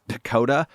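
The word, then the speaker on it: PECOTA: called i forget what the acronym is but it's spelled out pakoda p-e-c-o-t-a which is itself a somewhat weird name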